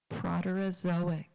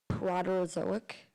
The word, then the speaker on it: Proterozoic: It's pronounced Proterozoic. Proterozoic.